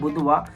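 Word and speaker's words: Boudoir: का ब्रांड बनाना है जिसका नाम होता है बुधवा, बट जिसकी स्पेलिंग होती है BOUDIR। अब बहुत दूर पढ़ोगे आप, बट सीरीज के अंदर इसको बुधवा बुधवा बोलते हैं।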